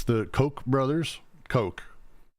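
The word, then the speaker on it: Koch: and we all know it's the Coke brothers Coke it's Coke or it's because it's there's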